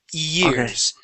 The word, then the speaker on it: years: I want you to think of an E sound, es, eu, eor, okay? And if you start off with an E, the rest of the word will be perfect, okay?